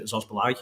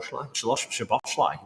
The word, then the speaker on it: Szoboszlai: It comes back here again to Zosbalai. Is it Zosbalai? How do you say it really well before? Szoboszlai.